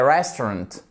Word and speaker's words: restaurant: we dinner at a restaurant Restaurant ok vous voyez que vous avez une apostrophe ici qui signifie que c'est la première syllabe qui est accentué parce que si vous